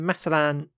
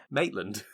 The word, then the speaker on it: Maitland: wife yeah and then matalan who is not famous shop but i keep getting how you pronounce his name maitland maitland yeah the only reason i